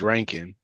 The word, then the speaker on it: Rankin: Uh so the author um Scott uh Scott Rankin has his website um his actual website is called it's pronounced ranking. So I feel like maybe he is maybe he isn't.